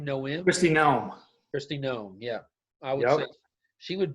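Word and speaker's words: Noem: do you say her name knowing christine christie gnome yeah i would she would be uh she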